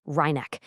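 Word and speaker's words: rynek: It's pronounced reneck.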